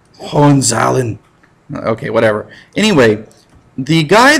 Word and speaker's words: Hohenzollern: there is the Hohenzollern, which I enjoy pronouncing Hohenzollern because it sounds like they're from like the east coast of Canada or something. But my wife, who is German, she does not like that. So it's Hohenzollern.